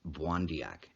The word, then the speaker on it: Pontiac: of the life of pontiac pronounced wandiyak the ojibwe or chippewa